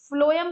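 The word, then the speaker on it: phloem: तो हम याद रखेंगे एफ से फूड है और हम इसको प्रोनाउंस भी फ्लोएम को जो है वो फ से करते हैं।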